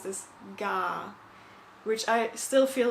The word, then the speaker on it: GAA: Gallic Athletic Association you'll see it abbreviated as G a a a lot which is how I thought it would be pronounced but apparently pronounce this gah which I still feel like I'm saying wrong